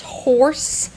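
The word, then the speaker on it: Horze: the brand is well it says Z but I know it's horse spelled with a z though h o r z e so I've always done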